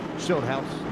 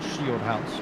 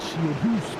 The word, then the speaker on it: Schildhouse: Schildhouse, not Shieldhouse, unless, as Kimmy Gooser would say, maybe you can pronounce it Shieldhouse.